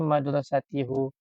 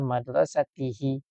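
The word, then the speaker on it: مدرستِهِ: yang lebih tepat dan bukannya madrasatihu betul adalah madrasatihi Oke begitu Fi madrasatihi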